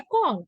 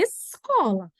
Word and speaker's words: escola: a língua, falar é cola. Pequenininha a gente acha bonitinho, né? Mas a pronúncia correta dessa palavra é escola. Então, o S tem som e o C tem som.